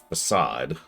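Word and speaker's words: Fassad: Yeah, Facade, whose name you'll notice is pronounced Facade.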